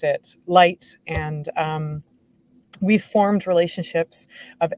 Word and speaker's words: Lytt: It's spelled Lytt, and it's originally a Norwegian word, and so it's pronounced light.